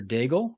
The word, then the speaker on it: Daigle: We are talking to Daigle, rhymes with bagel, aka, from a Starbucks in 29 Palms.